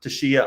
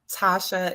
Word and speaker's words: Tasha: So Tashia, I'll pass it over to you. Or Tashia, my apologies if I've got the pronunciation incorrect. Tasha is the correct pronunciation.